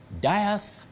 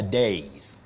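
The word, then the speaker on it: dais: d a i s how do we pronounce it Das welcome to the Das Das common but wrong bet I know many people would be surprised about this but you say the days the days to stand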